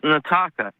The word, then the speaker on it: Nataka: Yeah, and it's pronounced Nataka. Nataka. Okay, I had a screener note that said Nataka with an L, but Nataka, I will remember that.